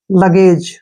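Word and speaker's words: luggage: एक ही मात्रा और जी का उच्चारण यहां पर ज करेंगे ठीक है क्यों क्योंकि जी के बाद ई आया है ठीक है ना लगेज क्या पढ़ेंगे इसको लगेज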